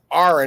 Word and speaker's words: Aron: to so many people it's not Aaron it's Ain and if I made